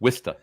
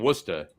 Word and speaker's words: Worcester: I'm saying Worcester wrong. It's Worcester. Worcester. Not Worcester. It's not Worcester. It's not Worcester. It's Worcester. I'm sorry. I mispronounced Worcester. My one vowel.